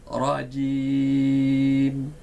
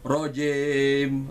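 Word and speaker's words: رجيم: Rajim. Maka sempurnalah bunyi i-nya. Kalau tidak, maka jangan kaget kita. Mungkin jangan-jangan itu bacaan kita selama ini rojim, rojim.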